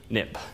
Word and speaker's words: xib: xcode it became xib but you pronounce xib nip so for historical reasons